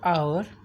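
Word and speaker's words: hour: Note, we यूज़ an before आवर और honest because H in this words is silent. हम एन यूज़ करते हैं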